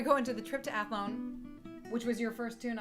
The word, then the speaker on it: Athlone: Ennis and I was I was pronouncing it uh wait how does that trip to athlone go and she was she scoffed and said it's athlone well recently we heard